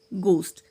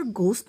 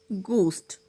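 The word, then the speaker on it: ghost: बाद में आता है, जैसे कि गोस्ट। यहाँ पर घोस्ट नहीं पढ़ेंगे, गोस्ट।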